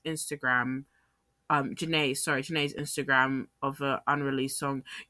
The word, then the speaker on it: Jhené: a cryptic post of Jean's Instagram, Jhene's Instagram of an unreleased song. You know, I used to say her name wrong for the longest time.